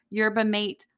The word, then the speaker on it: yerba mate: say it wrong you're you're mate latte super yerba mate latte now I like to have fun and